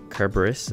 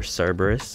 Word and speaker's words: Cerberus: Cerberus, or Cerberus, however you want to pronounce it.